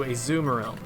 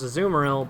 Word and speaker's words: Azumarill: though once it evolved into a zoom realm that's a weird way to pronounce azumarill but whatever azumarill has 50